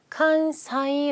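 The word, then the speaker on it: 関西: 이라고 하실 건데 자 관서 는 어떻게 읽는다 3이 아니라 칸사이 라고 있습니다 꼭 간사이 간사이 간사이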